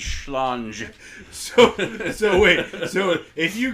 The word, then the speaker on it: Schlange: You know, the word for snake in German is schlong. I think you're mispronouncing it slightly, but I believe it's schlange.